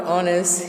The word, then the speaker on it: honest: It will be noticed that the words our honest here begin with a vowel sound as the initial consonant. H is not pronounced, यानी मतलब देखा गया